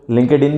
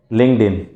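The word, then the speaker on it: LinkedIn: दूसरा सबसे बेहतरीन प्लेटफॉर्म जो अवेलेबल है उसका नाम है लिंक्डइन, जिसको बहुत सारे लोग लिंक्डइन भी कहते हैं, बट इसकी सही प्रोनाउंसिएशन है लिंक्डइन। लिंक्डइन 277% एक बेहतरीन सॉफ्टवेयर है, एक बेहतरीन प्लेटफॉर्म है लीड जनरेशन के हवाले से।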